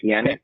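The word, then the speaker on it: Pjanić: Pjanic, is how you say his name, I think. I don't know if I butchered that or not.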